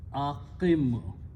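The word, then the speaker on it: أَقِمْ: We don't pronounce, we don't write. So this will become aqim.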